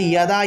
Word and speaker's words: যদা: গীতা পাঠের ক্ষেত্রে এই যে একটা শ্লোক আছে না, যদা যদা হি ধর্মস্য, এটার উচ্চারণ যদা যদাহি হবে না, হবে ইয়াদা ইয়াদা আহি, অর্থাৎ অন্তস্থ জয়ের পরিবর্তে ইয় উচ্চারণটা আসবে।